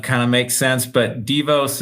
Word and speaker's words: Devos: So the dev kind of makes sense, but Devos is how we like to pronounce it.